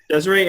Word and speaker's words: Desarie: that right is it Desiree's that's how it's pronounced yes that's right that's correct Desiree and we are going to talk a